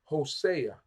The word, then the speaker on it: Hosea: is the book of H HOSA HOSA that's how we say it in English HOSA Hosea means salvation